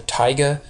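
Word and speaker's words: taiga: name for this is called the tigga T AIG g is how you say that's another name for the Boreal forest is the Tiga and so summers are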